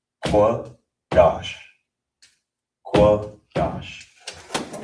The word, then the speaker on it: Qadash: So you it will be pronounced qua dash.